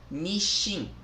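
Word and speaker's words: 日清: Eu não sei se lê como Nissan ou Nissin, né? Em japonês, a pronúncia é Nishin, Nishin, tá?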